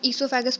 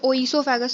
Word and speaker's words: oesophagus: इसको हम esophagus पढ़ते हैं, इसमें o जो होता है वो साइलेंट होता है, तो इसको oesophagus नहीं पढ़ेंगे, esophagus पढ़ेंगे, जिसका बेसिक नाम होता है फूड पाइप।